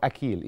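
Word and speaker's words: أخيل: جدا في الاساطير اليونانيه اسمه اخيل او اكيل يعني هي حسب ما بتكتب يعني تمام او قصدي حسب ما بتنطق بالعربيه انما هو اكيل يعني هي تنطق بحرف الك مامته ودي كانت اله يعني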